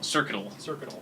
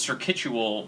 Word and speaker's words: Circuital: Circuital is what it is. Yeah, I used to think it was Circuitual, but then I realized it was just This one.